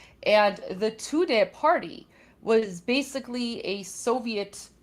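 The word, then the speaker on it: Tudeh: So, one of the ways to do that was the Soviets created the Tudday Party. That's spelled T U D E H. And the Tudday Party was basically a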